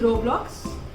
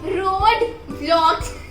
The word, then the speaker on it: Roblox: It is Roblox. Yes! Am I correct? Yes. She always says road vlogs.